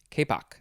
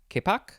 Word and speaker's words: kapok: yields the fiber kapok i'm not sure how to pronounce that word which is spelled k-a-p-o-k k-poc k-poc and then number two